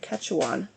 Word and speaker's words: Quechuan: So it's actually a parable of the Quechuan, excuse me, I looked it up how to say it, Quechuan people of South America.